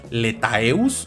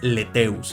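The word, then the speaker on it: lethaeus: Ae se pronuncia e. Entonces este no es letaeus, es leteus, entonces tiranosaurus leteus, ¿no?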